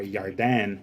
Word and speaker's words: Yardan: the Jordan to possess or yardan y-a-r-d-a-n in Hebrew pronunciation notice here now in